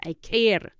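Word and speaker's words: quiero: K K I want I care spelled q i e r o the Q has the sound of a k so it's I want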